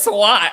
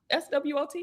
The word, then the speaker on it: SWOT: Well, I still think about that SWAT. Okay. You think about what? The rooftop? Did you say the rooftop? The SWAT. When you were texting me about the SWAT. SWOT.